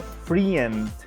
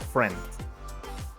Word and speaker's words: friend: reach that topic finally the most mispronounced word is friend so it is not free and but friend okay this sound is simple